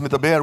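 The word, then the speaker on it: מְדַבֵּר: But that same word can be pronounced medaber, which means to speak.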